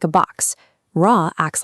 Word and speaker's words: Ra: For Ra, use a lightly tapped R, like the Spanish word pero.